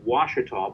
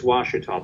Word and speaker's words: Ouachita: look like that it's it's an Indian name and it's pronounced Washita but it's spelled owe you a CH ITA and when people just